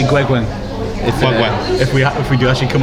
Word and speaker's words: Gueguen: I ignored the advice to ask the Torquay reporter who said his name was Guigan, because, to be fair, the bloke's from Devon, not France. Yeah. As it turns out, when I then checked afterwards, my pronunciation was right on the guy, but he didn't have to come on. So it's Olivier Gueguen.